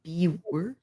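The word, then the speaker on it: Biewer: Bea Beaver. The The way the people who started the breed want it pronounced is Beaver.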